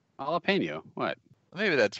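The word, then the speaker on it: jalapeño: said jalapeno around - it's not gel lappa no see how say the way you'd normally say it jalapeno what maybe that's right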